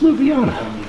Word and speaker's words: Ljubljana: Ljubljana? Little. It's Ljubljana.